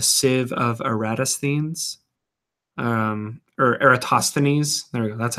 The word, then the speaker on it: Eratosthenes: called the the save of aratus things or Eratosthenes there we go that's how you say it civil Eratosthenes does they pronounce it anyway that's getting into a little